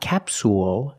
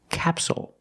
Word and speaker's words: capsule: Again, the stress is on the first syllable, so the second syllable is short. It's not capsule, it's capsule with a dark L at the end.